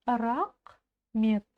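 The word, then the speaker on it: рақмет: в помощь идём дальше рак Мет рак Мет рак как произнести букву К очень просто просто откашляться через букву К И у нас получится звук ка Мет Рахмет едем дальше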